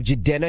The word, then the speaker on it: Jidenna: We have Jidenna.